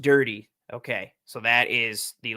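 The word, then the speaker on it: Durde: as the head coach and then ah, it's pronounced dirty.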